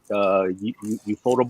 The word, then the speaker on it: ufotable: Did you say ufotable? Yeah. I always thought it was UFO table. Yeah, I know it's spelled that way, but I think it's pronounced Ufotable.